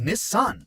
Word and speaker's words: Nissan: it as the 240Z in America we're all pronouncing Nissan very wrong because the correct pronunciation is Nissan and you die hard fans should really know